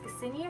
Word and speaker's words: Cassini: Now, these are by Cassini, yes, I'm saying it right, Cassini Originals.